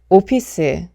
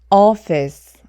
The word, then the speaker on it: office: 여러분이 단어는 어떻게 발음하세요 오피스 오피스 이렇게 발음하게 되죠 하지만이 단어도 마찬가지로 5는 5 소리가 나지 않고 어 소리가 나기 때문에 Office Office 이렇게 발음을 좀 어려우신